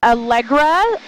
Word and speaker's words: Allegra: My email is Algra. So it's spelled like the allergy medicine everybody.